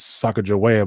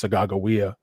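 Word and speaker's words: Sacagawea: what commonly would be called her name is sacajawea but her name is actually pronounced sagawiya and um so we're not as well known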